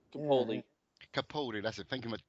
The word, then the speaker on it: Capaldi: Yeah, and I'm quite happy to see that Piccoli, I can't say his name. What's his name? Piccoli. I can't say his name. Capaldi.